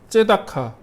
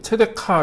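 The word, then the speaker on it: צדקה: 그래서 여기서 말하는 정의가 째다카 혹은 체데크, 체데카 이렇게 발음이 되는데 정의, 그 다음에 하나가 미슈파트, 공의.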